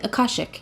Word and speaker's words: Akashic: Akashic. So, I I did say that at some point. So, a like father, ca like car, and then shik like sick but with an h.